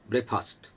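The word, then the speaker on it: breakfast: First of ऑल हालांकि उन्होंने pronunciation किया था ब्रेकफास्ट, ब्रेकफास्ट नहीं होता, pronounce it like this, look at this, ब्रेक जबान नीचे आएगी, ब्रेकफास्ट, ब्रेकफास्ट ट्राई करें।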